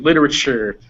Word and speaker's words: literature: so a fun thing whenever you see these u's in english uh t u will frequently become uh will frequently sound like a ch sound and if you want